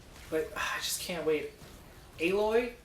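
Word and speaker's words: Aloy: I just can't wait a boy I think is how they pronounce it not alloy because there's only 1l the main character's name oh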